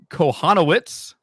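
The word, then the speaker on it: Kochanowicz: canning you've got this Jack konowitz is the proper pronunciation that he was allergic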